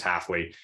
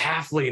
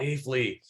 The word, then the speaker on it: Haffly: Haffly, or just completely butchered the guy's last name. And the guy was really mad. He's like, it's this, it's Haffly, not Haffly.